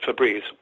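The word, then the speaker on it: Febreze: e b r e e FES but they pronounce it fabreze when did that happen you got all this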